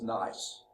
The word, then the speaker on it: gneiss: crystallization, and that forms gneiss. Gneiss rock. No, I'm just kidding. The G is silent, okay?